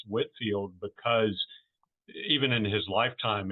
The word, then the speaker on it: Whitefield: can tell that it was pronounced Whitfield because even in his lifetime it was often misspelled you know without without the e in the middle.